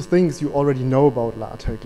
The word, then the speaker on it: LaTeX: one and to teach you something more it's pronounced la tec okay from now on i try to speak and pronounce it correctly in this talk but please forgive me if i don't because latex latex whatever is so common in german so